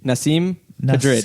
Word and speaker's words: Nasim: like I'm gonna need help pronouncing her name again to see him Nasim pedrad not seem as far as I know it's not seen picture it I think